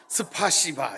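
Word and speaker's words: спасибо: 이게 원래 원 본토 발음이 스파시바 이렇게 됩니다.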